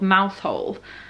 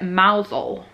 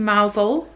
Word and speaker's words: Mousehole: thought it was called mousehole apparently the locals call it mousel so i've been pronouncing it wrong the whole time so tomorrow we're going to mousel and to the murnak